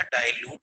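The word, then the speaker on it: dilute: तो आपको ये गलती नहीं करनी है, आपको ये समझना है कि यह डाइल्यूट का संकेत है, अतः इसे डिल या दिल ना पढ़े, इसे पढ़े डाइल्यूट। लिखे DI उच्चारण न करें।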